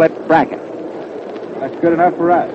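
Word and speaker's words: Brazle: h n a lot of folks call it pren but uh he says that he and his family call it bracket that's good enough for us I think the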